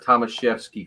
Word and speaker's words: Tomaszewski: I get it right no it does not look like it's spelled or sound like it's looks there you go it's uh Thomas chefsky kind of like Chevrolet Thomas chefsky all right